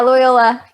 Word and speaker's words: Loyola: So when you eventually attended the I'm going to probably pronounce this one wrong too, the Loyola Marymount University? Yeah, Loyola, LMU.